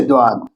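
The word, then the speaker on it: ضاد: না হচ্ছে দোয়াদ, গলার ভেতর থেকে মোটা দ।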